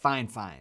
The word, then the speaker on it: FIFINE: budget mic from they told me how to pronounce it fine fine fine fine technologies it's the k0 3:7 wireless